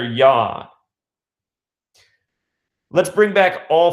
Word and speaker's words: Yod: The 4-letter name of God in Hebrew begins with the 10th letter of the Hebrew alphabet, which is pronounced Yod, Y-O-D, not unlike God. Sounds just like God.